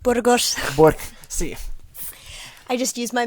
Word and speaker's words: Burgos: Say it right, Burgos.